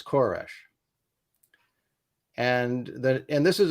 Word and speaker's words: Koresh: King of Persia but the Hebrew pronunciation is koresh and that and this